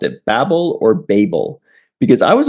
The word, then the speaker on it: Babel: When I looked it up to find out what the correct pronunciation was, it said in American English, it's pronounced Babel. In British English, it's called Babel.